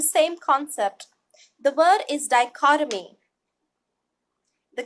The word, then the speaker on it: dichotomy: together just like anatomy look at the phonetic note die just like this ad ie die cut Oh me die cause a mean and then once we combine it the tree will become soft dichotomy that structures the